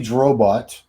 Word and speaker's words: Drobot: This is Drobot. Yeah. Rhymes with robot.